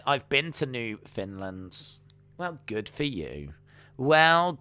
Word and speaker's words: Newfoundland: minutes uh uncle dana newfoundland is pronounced new finland and it's a province